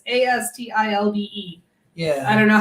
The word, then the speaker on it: Astilbe: It's Astilbe. Yeah. I don't know how I would have pronounced it, but it wouldn't have been that.